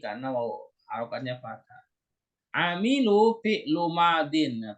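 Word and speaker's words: فعل ماض: Amilu fi'lu madin. Nah, perhatikan Bu Saibah cara bacanya fi'lu madin ya, bukan fi'lun madin.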